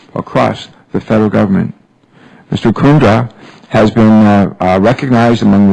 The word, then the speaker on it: Kundra: it right VC correct VC VC is it kundra or kundra KRA kundra emphasis on the first level ah good good